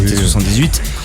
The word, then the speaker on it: T78: Alors c'est marrant parce que T78, enfin bon, on prononce à la française entre nous, hein, T78.